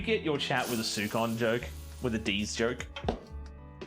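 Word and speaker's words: σῦκον: It's sukon. Ah, sukon. It's sukon. Did you get your chat with a sukon joke?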